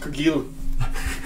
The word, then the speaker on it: Cargill: It's pronounced Cargill. Oh, it's French.